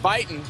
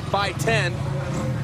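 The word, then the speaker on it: Buyten: fourstroke this time Matt Bon for many years we struggled to say by 10 because that's how he asked to pronounce it now he says he's okay with Matt Bon and you can tweet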